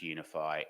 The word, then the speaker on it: UniFFI: generator bind gen so okay um and it's pronounce UniFi and unian ffi so okay so it started